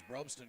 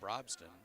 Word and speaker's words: Brobston: out of bounds as Broadstone comes back into the basketball game check that brobston sorry about the mispronunciation my fault 5 45